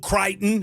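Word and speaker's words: Creighton: Let's go Katon or Kraton. I don't even I don't even know how you pronounce it, but I'm a fan. It's Kraton because Tennessee beat them in the tournament two years ago.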